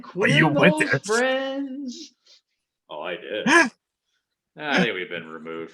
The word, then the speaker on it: Dea: The report came out today, essentially, that Dean's sister, Dee, which is spelled exactly the same way as Dean, without the N, of course. It's D-E-A. So I'm assuming her name is pronounced D.